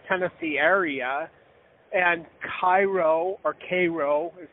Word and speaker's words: Cairo: Now, something also interesting is that in the Memphis, Tennessee area, and Cairo, or Cairo is how they pronounce it, Illinois.